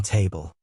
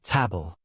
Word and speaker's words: table: Pronunciation tip: be careful with the R in bring and the L in table. It's not table. It's a dark L sound.